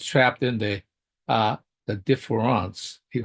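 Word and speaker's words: différance: of the contrast but he says differance and I think that's an important part he says different differance in a sense uh not only difference but he he's referring by pronouncing it that way in I guess in French that there's always a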